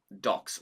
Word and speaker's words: DOCS: Pronounced Docs, like Chris's favorite pastime.